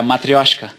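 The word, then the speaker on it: матрёшка: Esse aqui é um clássico, é a matrioshka. Exato. Tá boa a pronúncia? Ótima, ótima. Que é matrona, né, no português.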